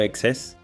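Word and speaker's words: XeSS: Excess de Intel, pronunciado Excess, usa IA mediante las unidades X-Matrix de Intel para rescalar desde resoluciones bajas.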